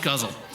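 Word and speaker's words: ghazal: she suggested an elegant gazal oh the next one i should have read this pronounced guzzle uh or perhaps a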